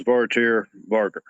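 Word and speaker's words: Svartyr Vargr: Uh so for those who can't not pronounce it correctly, it is Vartier Varger, but everybody calls me Dan.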